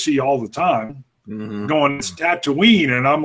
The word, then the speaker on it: Tatooine: knee is or it's it's Tatooine it's not to me I'm like okay and